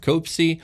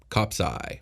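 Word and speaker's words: copsi: by a game of copsy or an arm wrestling match fog giants actually fighting amongst themselves will generally throw rocks in fistfight rather than use swords cop sci cop's eye we said it wrong it doesn't matter how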